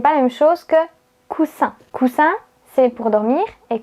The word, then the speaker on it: coussin: Par exemple, vous avez le mot cousin avec le son Z et le mot coussin avec le son S.